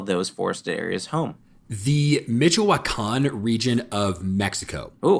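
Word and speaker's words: Michoacán: way I thought it was going to be pronounced God was incorrect fair enough so say it one more time the mitan region of Mexico okay where the majority of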